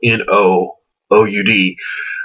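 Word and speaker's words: Noud: Nude, just as a side note, happens to be, notice the way it's spelled, N-O-O-U-D, no oud, is a fragrance which smells exactly like oud, as I will mention later in the review.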